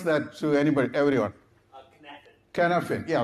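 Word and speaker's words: Cynefin: Please pronounce that to everyone. Canafin.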